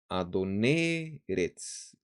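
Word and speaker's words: אדון ארץ: Mira, la entonación de Adón estaba en la segunda sílaba, on. Ahora el acento se ha ido a la segunda palabra y en la primera sílaba de la segunda palabra se lee así, Adoneretz, Adoneretz.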